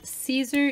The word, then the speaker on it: Siser: really nice and again this is Caesar easyweed and it's spelt sizer si se are I'll put a link